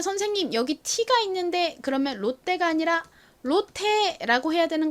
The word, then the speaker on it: 롯데: 그런데 선생님 여기 T가 있는데 그러면 롯데가 아니라 롯데라고 해야 되는 거 아닌가요? 라고 말씀을 하시는 분들이 있으실 것 같아요. 맞아요. 사실 이거를 그대로 영어식으로 읽는다면 롯데가 아니라 로테 이렇게 트 발음이 나지만 한국식으로는 롯데라고 씁니다.